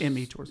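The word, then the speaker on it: MeTours: that consist of well meem tours is me tours yeah is the way I pronounce it because it's somewhat about me because that's who I know the best um but it's it's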